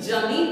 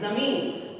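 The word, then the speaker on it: ज़मीन: अब जब हमने बोला यहाँ ज, ज के नीचे जब हमने बिंदी लगा दी तो हमारा उच्चारण क्या हो गया, अलग हो गया। तो क्या बोले, ज, क्या बोलते हैं, ज। जैसे जमीन, देखिए क्या बोलेंगे, इसको जमीन नहीं बोलेंगे, क्या बोलेंगे, जमीन।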